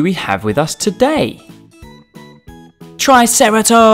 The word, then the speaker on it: Triceratops: have with us today Triceratops try Sara tops can you say it